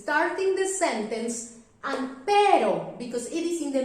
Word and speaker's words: pero: Pero is soft. Pero is you need to put your tongue up and for very short time. It's very fast, like r, up, down. Pero, up, down. Okay? With practice, you will can pronounce perfectly. Perro, pero, rosa.